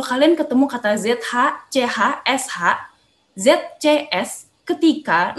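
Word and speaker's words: 是: Ketika kalian ketemu SHI, itu bacanya bukan shi ya, tapi dibacanya sh, gitu.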